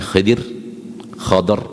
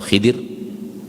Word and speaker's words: Khidr: Nabi Musa alaihissalam dan Nabi Khidr atau Khidir, ada yang membacanya fathah, ada yang membacanya kasrah. Khidr atau Khidr, dua-duanya datang dalam riwayat.